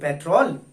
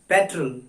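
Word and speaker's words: petrol: क्या बोलते हैं आप लोग, पेट्रोल? Know guys, it's wrong. The real pronounce of this word is इट्स पेट्रोल। पेट्रोल, पेट्रोल, ना कि पेट्रोल।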